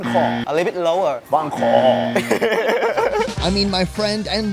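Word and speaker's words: bánh khọt: BANH KHOT. BANH KHOT. BANH KHOT. A little bit lower. BANH KHOT.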